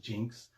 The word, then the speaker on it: Iynx: x it is pronounced jinx this is the etymology of the word we use Jinx today so um you can say these are inks or Jinx both are correct this is a a